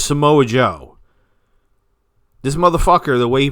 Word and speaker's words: Samoa Joe: Can you tell me who the fuck Samoa Jew is? Can you tell me who Samoa Jew is? Because I thought his name was Samoa Joe.